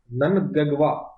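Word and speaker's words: Mnangagwa: Emerson ननगवा, ननगवा। ठीक है, am silent है।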